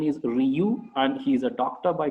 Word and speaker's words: Rieux: I am pronouncing the name as Ryu, but the spelling of the name is Rieux, and the pronunciation is Ryu, and he's a doctor